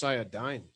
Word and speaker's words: Cyadine: It's pronounced Cyadine. It's not even a word.